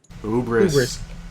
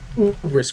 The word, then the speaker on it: hubris: Ubris. Ubris, Crispy. Ubris. Ubris. The H is silent because I hate it.